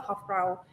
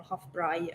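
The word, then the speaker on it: Hofbräu: lot of people know the hofbrau um or hofbray i think is the german pronunciation um and the the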